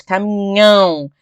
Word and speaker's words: caminhão: Tio é uma representação gráfica para dizer que aquela palavra ela é pronunciada com o nariz, tá? Ela é nasalizada, ou seja, o som sai pelo nariz. Caminhão, caminhão, tá vendo?